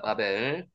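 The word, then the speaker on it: בָּבֶל: 실제로요 빠벨이라고 읽는 이유는요. 경강점이 안 지키면요. 발음이 된 발음이 납니다. 그래서 실제로는 비업 발음으로 읽어야 되는데 비업을 하나 더 하는 거죠. 그래서 빠벨이라고 읽는 겁니다. 빠벨.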